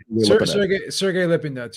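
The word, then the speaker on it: Sergey Lipinets: jamal james next or how do you say his names sergio the uh lift yet uh you know sergey lopez yeah sergey lippin nuts yeah you got it right right you got it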